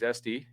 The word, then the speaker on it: Estee: she writes uh hey my name is sd uh rhymes with zesty cool i nailed it